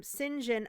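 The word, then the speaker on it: St. John: jane also meets um sinjin also i i should say this his name is spelled saint john but it's pronounced sinjin um a victorian name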